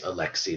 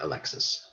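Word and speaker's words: Alexei: one son son Alexi the pronunciation of that is Alexi not Alexis all right now little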